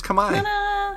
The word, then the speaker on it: Khmer: So you can be like a language pro now and be like, it's Khmer. Yeah, I did not know how to pronounce it until probably this podcast, if I'm being completely honest with you guys.